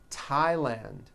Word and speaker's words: Thailand: spelled with a th they are pronounced as if they were spelled with a normal T like that and these words are Thomas Thompson Theresa Thailand Thames like the river